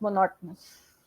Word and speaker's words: monotonous: Third thing, you have also explained me that yes, life becomes monotonous, right? But I want you to pronounce that again, monotonous.